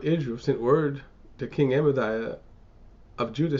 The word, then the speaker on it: Amaziah: I'll do a quick word pronunciation. Amaziah.